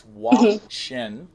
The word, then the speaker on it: WOCSHN: and I'm super uh I always figure think I'm going to pronounce it wrong it's w Shin look at you I